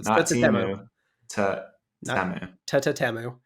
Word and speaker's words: Temu: pronounce it I mean they were pretty clear in the ad it's t t TAMU so you're supposed to say t twice so t t temu uh we're gonna do